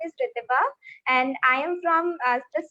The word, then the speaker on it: Ritibha: So pronunciation, my name's pronunciation is Ritibha. It's Ritibha Ritibha.